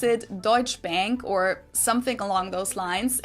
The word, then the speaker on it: Deutsche Bank: English native speakers usually pronounce it Schwarzkopf or Schwarzkopf or something along those lines. Deutsche Bank is the largest bank in Germany.